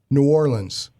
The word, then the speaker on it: New Orleans: So, people, New Orleans. That's how you say it. That is the relaxed, cool way to say it. And now you know.